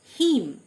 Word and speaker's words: hymn: হিম, HYMN, last N লেটারটি silent, হিম, মানে স্তোত্র।